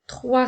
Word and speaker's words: trois: s'écrit o i s rappelle-toi que la lettre S est une lettre muette je peux l'utiliser dans la phrase elle a mangé trois cerises rouges le mot